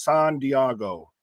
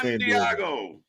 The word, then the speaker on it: San Diego: But yes, sir, it's pronounced San Diego, not San Diego.